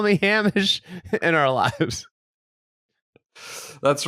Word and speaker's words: Hamish: I think it's Hamish, like closer to Seamus. It's Hamish. Hamish.